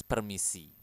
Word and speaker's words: permisi: you can also use permisi permisi Oke permisi eh remember to roll your R Permisi Excuse me oke